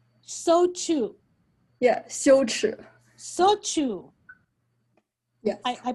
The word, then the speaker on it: 羞耻: Luego, Chang, how do you pronounce that in Chinese? It's called 羞耻. 羞耻.